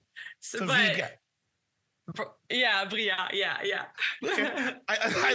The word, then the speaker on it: Briat: Yeah, the only thing, so I usually, it's just that you don't pronounce the T at the end. So but Briat.